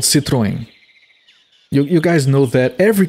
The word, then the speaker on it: Citroën: It's supposed to be pronounced, if I'm not mistaken, Citroën. Who the hell wants to drive a thing called a Citroën?